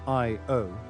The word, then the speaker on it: Io: them as the Galilean satellites honoring their Discoverer IO pronounced IO is the closest of Jupiter's four large moons